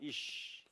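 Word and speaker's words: אִישׁ: 신부를 또 다른 단어로 자요 단어가 뭐냐면이라는 단어예요 발음을 세게 하면 이쉬 해볼까요 이쉬이는 남자라는 말입니다 남자 요게 신랑을 이야기하는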